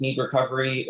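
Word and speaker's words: Knead Recovery: instagram is me and like needs like needing dough can you spell that out for some people yeah it's a k n e a d recovery um yeah instagram or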